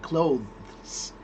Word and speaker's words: clothes: uh properly said the word clothes has this th at the end clothes. But that's really hard to be honest and completely unnecessary because most of the time when you say this word if you say it quickly there is no time to hear the th.